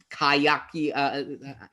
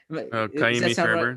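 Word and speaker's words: Ka'imi Fairbairn: The Titans have Gostkowski, and the Texans have Kayaki. I'm mispronouncing the Fairburn. Kaimi Fairburn.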